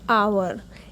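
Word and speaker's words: hour: देखिए यह word H से शुरू हो रहा है। लेकिन हम इसे प्रोनाउंस करते हैं। आवर एच इसकी आवाज नहीं आती।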